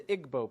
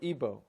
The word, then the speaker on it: Igbo: You have the Igbo people or Ibo pronounced either way.